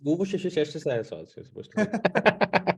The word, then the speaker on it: Worcestershire: It's Worcestershire sauce.